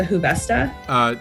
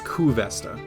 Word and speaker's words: Kuvesta: oath bows, the Huvesta. So it's Kuvesta. Kuvesta. Yeah, no worries. I missed. Yeah, it's spelled because I actually spent the time and I looked up the translation to Elvish. Kuvesta, Cuvesta. Kuvesta. I was right, except for I thought it was Ku with an H, but it's Ku.